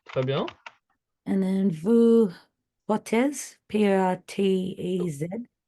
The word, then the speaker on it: portez: And then vous portez, P-O-R-T-E-Z. About the pronunciation, it's close. However, the Z isn't pronounced. On prononce pas le Z.